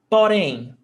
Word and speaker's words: Porém: Porém, 2 syllables. Oxytona, the same case as amém. Oxytona terminada em M.